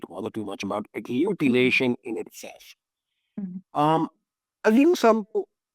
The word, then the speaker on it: agglutination: It's called sperm agglutination. Am I saying that right? Yeah, you're saying it right.